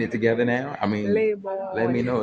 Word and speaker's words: Lebone: When you pronounce it, it's like sound American. Cause they say Lebone, they say Lebone. Lebone. I say Lebone, but it's Lebone. Lebone. It's Lebone.